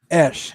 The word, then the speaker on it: Esch: Paul, how do you say last name? I didn't even ask him. Esch. Sorry, Esch.